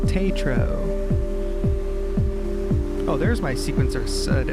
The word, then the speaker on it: Taetro: How do I pronounce my name? Tetro. Tetro.